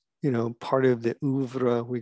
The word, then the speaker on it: oeuvre: And the way you pronounce that is oeuvre.